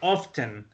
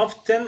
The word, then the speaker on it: often: Esta palabra la podemos pronunciar como often o como often. Sí, como cualquiera de las dos la podemos pronunciar. Suena often o suena often. O sea que se pierde el sonido de la T.